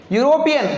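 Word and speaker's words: European: अब आगे तो ई दिख रहा है भैया, इमली का, ई का। अब ई दिख रहा है नहीं भैया, ये ई दिख रहा है, उच्चारण क्या है? यू, ये यज्ञ का हो रहा है। यूरोपियन, यहाँ पर भी आ गया अ यूरोपियन।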